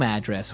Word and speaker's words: address: So, different from your home address where you live. Yeah. And there the stress is on the first syllable. Address, right?